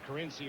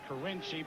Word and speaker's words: Carinci: names you've got kiny is it kiny or carinci he pronounces it carinci but he really doesn't